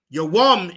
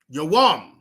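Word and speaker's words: יום: Yawam is day. Yawam.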